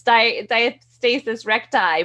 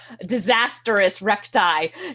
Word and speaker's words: diastasis recti: different ways you're the doctor how do we pronounce it yeah you got it right it's diastasis recti but it's funny because i have a lot of patients that call it the disastrous recti because they can't take the diastasis so but